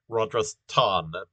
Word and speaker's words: Rajasthan: and uh rajasthan um you'll notice uh rogers ton has an h in it so uh you know that it's it's pronounced a bit differently from uh places ending in s-t-a-n that this is rodris ton um okay and uh